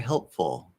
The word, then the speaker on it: helpful: Oh is a half L. Full. Now if I say, oh, that was very helpful. Helpful. Oh, it's exactly the same.